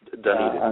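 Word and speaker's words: Dunedin: It's pronounced Duneden.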